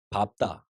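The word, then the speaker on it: 밟다: 밥다. 우선 긴 소리 맞습니다. 그리고 밥다. 리얼 피업의 대표면 사실 리얼이지만 밥 요만 예외적으로 피업이 되죠. 밥 맞습니다. 근데 이런 것이 있습니다. 한 글자 어감 뒤에 모음으로 시작되는 의미가 오면 보통 짧아지죠 소리가요. 그렇죠? 그래서 이건 밟으며 짧아진 것이 맞습니다. 소리 길이 맞고요. 그리고 앞에 발음도 맞습니다.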